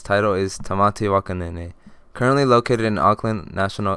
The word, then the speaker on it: Tamati Waka Nene: And we are currently looking at Tamati, Waka, Nene. Thank you, Barry. And it's actually pronounced Tamati, Waka, Nene.